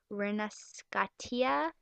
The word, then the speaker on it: Rinascita: Really bad at pronouncing stuff. Rinascitia, which basically is spelled Rinascita with like an